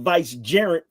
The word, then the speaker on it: vicegerent: one will be the vicegerent for the Creator. Oh, a vicegerent. I thought you said a gerund. No, I said gerent. I pronounced it with the T clearly. Actually reset it back.